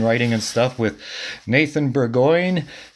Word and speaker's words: Burgoine: And today we're talking about a bunch of books and writing and stuff with Nathan Burgoine. He tells us it rhymes with sirloin. So that's Nathan Burgoine.